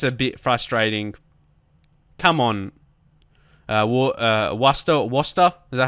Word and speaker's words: Worcester: Worcester? Is that how you say their name? Yeah, Worcester.